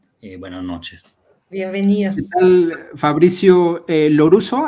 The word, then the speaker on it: Fabrizio Lorusso: ¿Qué tal, Fabricio Loruso? ¿Así se pronuncia? Sí, así es.